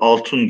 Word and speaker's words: altun: dizeyi Hasan Bey okudu Altun gözlü papatyalar Evet beraber okuyalım Altun altın Altun arkadaşlar eski bir kelime eski bir Türkçe kelime köken olarak Altun olarak son zamanlarda altın diye telaffuz ediliyor altın gözlü papatyalar Tarlalarda